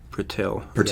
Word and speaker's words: Purtill: Again, Richard Purtell, or Purtill, it's one of those things where you read and you're not quite sure how to pronounce it. Purtill.